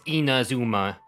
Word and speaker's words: Inazuma: pronounce the word so it's not in a zoom like Inazuma it's Inazuma and sumeru not sumeru Lisa personally witnessed oh my